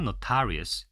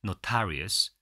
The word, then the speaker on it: notorious: notorious. 강세 여기 있습니다. notorious, infamous, notorious 이렇게 알아두시면 좋습니다.